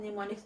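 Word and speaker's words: mnemonics: से वो देखिए निमोनिक्स निमोनिक्स का एम हम साइलेंट है इसलिए हम निमोनिक्स कहते हैं इमेजिनेशन साइंस ऑफ पॉजिटिविटी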